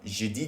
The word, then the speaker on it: je dis: No, that's not a good pronunciation. Je dis la vérité. Okay. Je dis la vérité. Et voilà. Je dis. Because it was registering as me saying j'ai, which is I have.